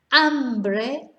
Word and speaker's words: hambre: Hambre, hunger. Hombro, shoulder. So they couldn't be much more different, really. So remember not to pronounce H.